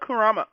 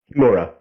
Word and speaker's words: Kimura: Yeah, Hannah Kurama. Kurama? Is that how you say her last name? No. I'm sorry if I'm getting her last name wrong. Kimura. Kimura? Hannah Kimura? Yeah, Kimura.